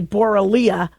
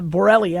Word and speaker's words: Borrelia: And so if you are exposed to the Borrelia bacteria, say Borrelia, but it's a Borrelia. I hear it pronounced both ways.